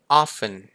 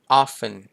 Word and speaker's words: often: แปล ว่า บ่อย ๆ จริง ๆ แล้ว ตัว เ อ่าน ได้ 2 แบบ เลย นะ มัน จะ อ่าน แบบ silent TE ก็ ได้ หรือ จะ อ่าน แบบ มี T ก็ ได้ เป็น often ก็ มี นะ ครับ หลาย ๆ